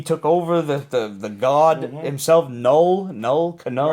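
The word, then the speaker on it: Knull: over the god himself, Null, Cano, Right, that's how you whatever. pronounce his name? No. I'm going with Null. K-N-U-L-L. I'm going with Null. It's German. It means zero.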